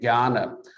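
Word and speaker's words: Kaurna: when you look at ghana oddly enough we're spelt with a k but it's pronounced with the g um and a lot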